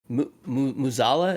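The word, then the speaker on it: Mueh'zala: I didn't make it this far in the expansion because I wasn't enjoying it, but I was excited to learn about Muzala.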